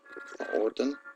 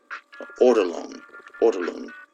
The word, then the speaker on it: ortolan: It's called orton. I'm saying it wrong. Let me see. Illegal delicacy. Ortolan.